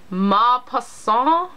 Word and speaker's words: Maupassant: And that is Guy de Maupassant. Maupassant. I don't think the N and the T are pronounced in French, but I took Spanish in high school, I didn't take French, lo siento.